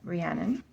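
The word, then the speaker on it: Rhiannon: yep Olen um ragnell very simple ragnell oh ranan I always say ranan yep ranan I love the designs and the tattoos on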